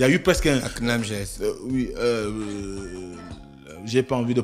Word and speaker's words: CNAMGS: La CNAMGS. J'ai pas envie de prononcer comme au quartier. Quand même. D'accord. Voilà. Donc, non, au quartier, ils disent la Akanam GS.